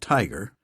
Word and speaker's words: TIGR: Institute for genomic research tigr pronounced tiger to be headed by